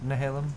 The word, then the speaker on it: Nehalem: I can never pronounce Nehalem. Remember, like, a little town of Nehalem? Little town of Nehalem. That's a good way to remember it.